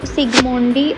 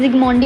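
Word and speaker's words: Zsigmondy: Next है हमारा Palmer, सिगमोंडी और सिंबॉलिक सिस्टम, ठीक है। इसमें जिगमोंडी बोलते हैं, बेसिकली सिगमोंडी बोल दो, ठीक है। जेड साइलेंट होता है।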